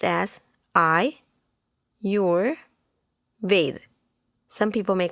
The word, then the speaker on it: Ayurveda: is the importance of Ayurvedic lifestyle I read pronounced as I your Veda some people may call it our Veda I your Veda I read is a science